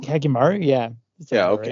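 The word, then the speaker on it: Hyakkimaru: We've talked a lot about how did I pronounce that? Hakimaru? Hakimaru, yeah.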